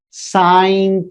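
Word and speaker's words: sine: theta this is not sin theta it is pronounced as sin theta it's so it's not like some sin or crime you're committing it's called sin theta why because This ratio depends on this angle theta.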